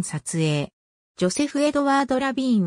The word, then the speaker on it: Levine: 日本ではそのなおフランスも式に発音したジョーゼフレヴィ員という表記も見られるが本人はアメリカ生まれのアメリカ人でありフランス語との接点は全くないマサチューセッツ州ボストン出身